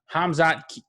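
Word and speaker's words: Khamzat: first fight we had hamzad i still can't pronounce his name i know the k silent like khabib so it's hamza kamayev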